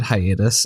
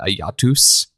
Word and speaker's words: hiatus: um who was Latin American and he he went to go say the word hiatus and he pronounced it ayatus and he was saying it